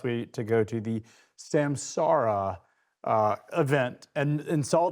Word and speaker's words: Samsara: I finally realized you have to say it like a pirate. It's Samsara. Ar. It's the R.